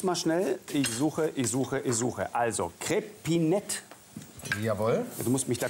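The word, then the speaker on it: Crépinette: Nee, du hast es völlig richtig ausgesprochen. Also eine Crepinette. Ja, Crepinette.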